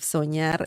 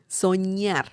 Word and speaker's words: soñar: By the way, let me see if soñar is regular or irregular. Soñar, remember the ñ sound of this, the N that has a line on top? Soñar, soñar, ña, ñe, ñi, ño, ñu.